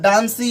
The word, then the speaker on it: dance: लेकिन लोग अगर कहेंगे, अगर ई का उच्चारण अगर लास्ट में करे तो डांसी या डांसे बोलेंगे तो वो गलत हो जाएगा। इसका उच्चारण जो करेंगे वो डांस की तरह।